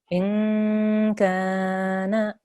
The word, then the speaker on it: إن كان: This is in. You have your gunna sound. You have your nasal sound there. In. And then that kaf is for 2 seconds because there's alif madda there. In kana.